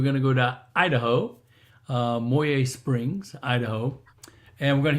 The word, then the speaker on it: Moyie Springs: It's Moyie Springs and Kootenai. And if you don't say it right, they'll know you're not from the area.